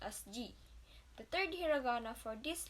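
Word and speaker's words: じ: Actually, shi with dakuten is pronounced as ji.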